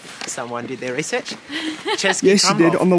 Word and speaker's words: Český Krumlov: Český Krumlov. Someone did their research. Český Krumlov.